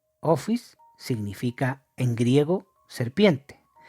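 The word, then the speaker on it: ὄφις: Se pronuncia Ophis. Ophis significa en griego serpiente.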